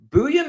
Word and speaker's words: Buium: I have watched tape, and every game I've watched has called him Buium.